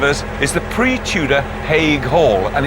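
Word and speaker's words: Haigh Hall: it really is a very impressive building I'm pronouncing it correctly by the way is it ha Hall I'm afraid it isn't I've got to correct you though it's actually he Hall oh hay Hall hay Hall I was in hay and straw all right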